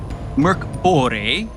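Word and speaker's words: Mörk Borg: Welcome to Bloated, an actual play entertainment presentation of The Bloat, a Morborg adventure written by Greg Saunders. Merk Bore, as I should have pronounced it, is an old school revival D20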